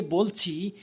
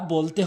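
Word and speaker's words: باء: এরপরে বা ভুল উচ্চারণ, বা ভুল উচ্চারণ, সঠিক উচ্চারণ হচ্ছে দুই ঠোঁটের ভেজা অংশ মিলিত করে বা বলতে হবে, বা, বা সঠিক উচ্চারণ।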